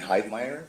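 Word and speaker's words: Heidmeyer: Wi L I A M and Hide Meer.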